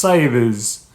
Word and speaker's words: Cywes: Cywes, which is pronounced Cyves, I think.